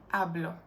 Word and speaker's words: hablo: If a word ends with a vowel, in this case it's O, the emphasis falls on the penultimate syllable. That's why the emphasis switches from hablar to hablo, from comer to como, from vivir to vivo.